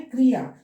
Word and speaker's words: क्रिया: तो इसका सही प्रोनाउंसिएशन है क्रिया। कैसे क्या है इसमें? क में र का रेफ लगा है।